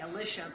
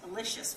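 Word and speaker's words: Elisha: You're saying Alicia, but I've had pronunciations Alicious from the family. And they say Lish when they're talking about it to me, so I understand what you're saying.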